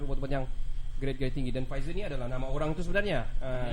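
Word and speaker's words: Pfizer: sampai adalah viser bukan faizalah bukan Faizal balikbalik Faizal kas betulah sebutannya pizer silent P lah silent pnya pizer tidak perlulah Siapa nama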